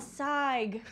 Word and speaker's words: Sayegh: We have Sharone Sayegh. See that? That's how you remember how to pronounce her name. See, you sighed.